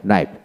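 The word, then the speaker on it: knife: কে উচ্চিত হবে না এন এ আই এফ নাইফ তারপরে NEET N আই T need knowledge knowledge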